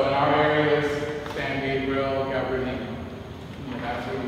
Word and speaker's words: Gabrielino: And I always thought she was pronouncing the name Gabrielino wrong. And it wasn't until I got older that I realized that that's the Indian way, the Indian Spanish-like way of pronouncing it.